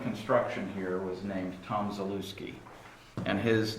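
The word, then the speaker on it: Zaluckyj: here was named tom zalewski and his name is spelled z-a-l-u-c-k-y-j so it looks like the lucky j but it's pronounced zalewski okay so uh that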